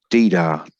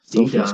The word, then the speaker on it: Dida: Didar, that's an interesting pronunciation. that's how he's always been called on in all footballing things. Watching the old Champions League. Dida. Yeah. Dida. It's a song, isn't it? That one. Police did it. You adding an R onto the end there, mate.